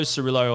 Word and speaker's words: Cirillo: Carlo_Cirillo, Cirillo, not Cirillo, but anyway, you can spell it however you want.